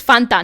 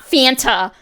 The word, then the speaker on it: Fanta: It's Fanta, not Fanta.